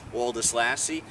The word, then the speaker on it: Woldeslassie: new assistant coach oldest lassy I'm told the name is pronounced exactly how it looks Aldus lassie coach thanks for